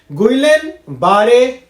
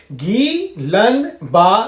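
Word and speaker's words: Guillain-Barré: आर ओ ME syndrome गलन बारे syndrome लेकिन इस तरीके से हमें प्रोनाउंस नहीं करना होता है प्रोनंसिएशन कुछ इस तरीके से होता है घी लन बा सिंड्रोम तो कहने का मतलब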